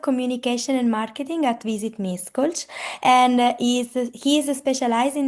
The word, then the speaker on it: Miskolc: So the correct pronunciation is Ash for the S, and C can be C. So Miskolc.